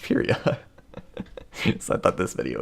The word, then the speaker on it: Pyria: I pronounce it Pyria. I stand by that pronunciation. I mean, of course, Tui can pronounce it however she wants. It's her universe, but also Pyria is a word in the English lexicon, and it's pronounced Pyria.